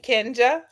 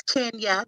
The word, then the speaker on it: Kenja: And Kenja. Hi, look, it's Kenya. The J is silent.